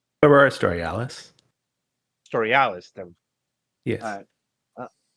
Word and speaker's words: Storialis: How is that pronounced? Aurora Storialis. Storialis.